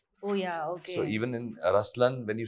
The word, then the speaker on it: Ruslaan: yeah so even in raslan when you say raslan also means the lion it's the attitude of am but the right pronunciation is rlan okay yeah there is